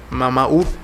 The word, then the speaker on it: Mamaú: Es en el caso de la pronunciación, que es Mamaú, que es la madre luna.